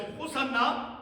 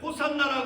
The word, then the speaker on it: 호산나: 그 간청 구원하소서 자 헬라식 발음으로 호산나 아고 우리가 부르는 것이죠 자 호산나 하는 그